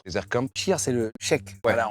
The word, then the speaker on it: cheikh: comme Cheikh, c'est le cheikh. Voilà, on le prononce cheikh, mais c'est le cheikh. Donc c'est le chef en gros. pas le chèque bancaire.